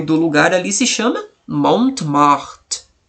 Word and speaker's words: Montmartre: É Montmartre. Montmartre. Então o nome do lugar ali se chama Montmartre.